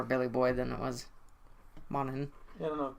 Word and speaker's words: Monaghan: So, Dominic Monaghan, the G is silent, Yes.